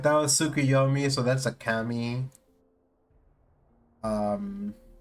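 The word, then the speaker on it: Tsukuyomi: like that was Sukuyomi.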